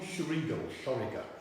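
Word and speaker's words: Xoriguer: It's a gin called Shoriga. So it's spelled with an X at the beginning of it if you're having a look for that gin.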